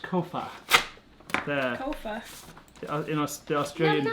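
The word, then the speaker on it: Copha: Amy said it's pronounced Kofa.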